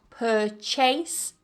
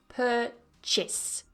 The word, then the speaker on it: purchase: that stress purchase now don't try and pronounce that second syllable as Chase it's not purchase but purchase Chas purchase yeah yeah